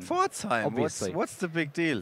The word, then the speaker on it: Pforzheim: yeah, so he attended the Swiss National Championships and a regional in, I can't pronounce that. It's just there's so many valves. Pforzheim. Pforzheim. Pforzheim.